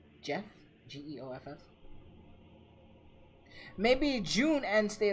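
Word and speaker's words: Geoff: that's how you say his name his name is spelled g-e-o-f f jeff g-e-o-f-f maybe june ends state of play sonia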